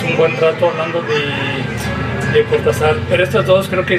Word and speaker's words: Cortázar: desde el nombre que muchos piensan o nos achacan que no lo sabemos pronunciar, que es Cortázar, y aquí les explico por qué sí se puede pronunciar Cortázar. No hay ningún error fonético ni ortográfico.